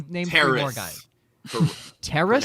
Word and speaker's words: Terrace: Terrace. No N. There Terrace? is no N in his name. It is Like- Terrace Marshall. Like the thing that Juliet walked onto in Romeo and Juliet?